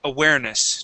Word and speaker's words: awareness: this is awareness okay stress here right in the middle of the word awareness try this try that